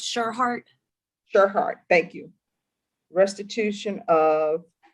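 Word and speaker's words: Tschirhart: Throws me off when people have a T and S together, but it's TSCHIRART. And That's cause, I'm sorry, what? It's Sherhart.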